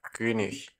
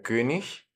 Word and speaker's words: König: ejemplo en la palabra König, el rey. Nos queda como plural die Könige, los reyes. Observemos también aquí la pronunciación, como la IG al final suena como ich, como en la palabra yo, pero cuando le agregamos